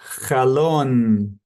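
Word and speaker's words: חלון: Chalon com a boca aberta falando n.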